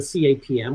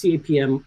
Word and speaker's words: CAPM: So given the assumptions of the CAPM, which just as an aside, surprisingly is how Sharpe himself pronounces it as an initialism rather than the common acronym CAPM.